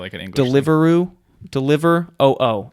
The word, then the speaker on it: Deliveroo: like an English deliveroo deliver oo is how it's spelled it's probably deliveroo deliveroo whatever when she